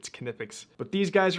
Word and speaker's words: Knipex: I always thought it was just Nipix, but I went and watched some of their YouTube videos, and apparently you pronounce the K, it's Canipix.